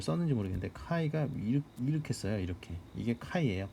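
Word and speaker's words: χ: 그래서 스탠다드 가우시안을 제곱을 해서 n개를 더할 경우에 우리가 그것을 카이 스퀘어 랜덤 베리어블이다라고 이야기를 하고 노테이션을 이렇게 씁니다. 그러니까 카이가 제가 뭐 잘 썼는지 모르겠는데 카이가 이렇게 써요.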